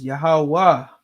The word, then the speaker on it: Yahweh: Like Yahweh is just Yahweh. You understand? There's no ha sound at the end. It's just Yahweh.